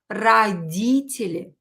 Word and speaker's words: родители: When o is not stressed, pronounce it as a. Родители. Родители. And again, you can hear that I pronounce e longer, like this. Родители. Родители. So this is the syllable D. Родители. Like this. Скажите, say, родители. Родители. Because if you will pronounce O or E, it will be, or ye, people might not understand you. So it's not родители or родители, yeah, it's родители. Родители.